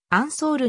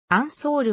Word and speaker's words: アンソール: 花家の一人日本ではフランス語発音に基づくアンソールの表記が定着しているががかの出身地の言語であるオランダ語での発音は塩素るに近いジェームズは英語の